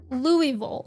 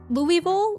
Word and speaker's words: Louisville: If you're from there, it's pronounced Louisville. Louisville like that.